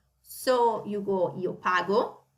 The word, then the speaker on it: pago: So you go io pago, you see it's a hard G. So io pago, tu paghi, again with an H, to keep consistent with the rest, with the sound in the conjugation.